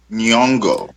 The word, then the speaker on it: Nyong'o: Lupita Nyong'o.